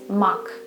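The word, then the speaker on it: мак: Okay, next combination, ma, and the final sound, k. Now, let's combine it. How do you say it? Okay, it's mak, mak.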